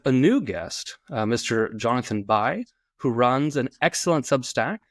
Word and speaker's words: Bi: It's actually pronounced B, but I think Bi might be a bit more fitting for discussing the Greeks.